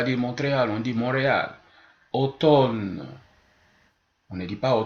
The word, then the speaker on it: automne: on voit pas démontrer alors on dit Montréal automne on ne dit pas au top le M